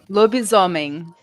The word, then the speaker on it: lobisomem: Anna, how do you pronounce that? Lobisomem.